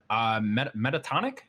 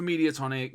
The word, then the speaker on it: Mediatonic: Metatonic? Is that how you pronounce that name? Mediatonic.